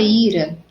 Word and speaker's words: ira: Sua ira era tamanha que ela perdeu o autocontrole. Então, ira, sílaba mais forte, o i, tá? Então, não recebe acento.